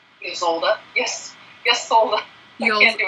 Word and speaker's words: Ysolda: These are the Cadoce by Yolda. Ysolda.